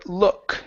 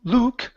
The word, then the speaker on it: look: uh next we have the word look instead of L Luke open the mouth a